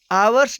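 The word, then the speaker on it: hours: Next example है आवर्स delay, इसमें भी एच साइलेंट है और इसका उच्चारण वोवेल की तरह हो रहा है, इसलिए आवर्स डिले के पहले एन आर्टिकल का प्रयोग किया गया है।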